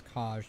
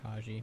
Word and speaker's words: Kaj: I think his name is Kaj, not Kaji. My bad.